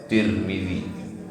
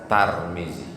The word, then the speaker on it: Tirmidzi: sempurna sempurna hadits riwayat Tirmidzi boleh juga dibaca turun boleh juga dibaca Tarmizi tiga cara membacanya Tarmizi pir milih Turbo begitu